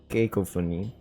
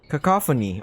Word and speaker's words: cacophony: Sparks cacophony copon kopon searching that real quick uh pronunciation yes phony Koo kak copon cacophony oh my god I've been messing that word up so many times cacophony what a weird way to pronounce it though think you can